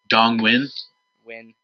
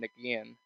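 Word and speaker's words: Dong Nguyen: Dong Win. Yeah. Hey, look at you for pronouncing that name correctly. Yeah, that is a very tough name. IGN could not pronounce it. Really? Yeah. They kept saying Nagian.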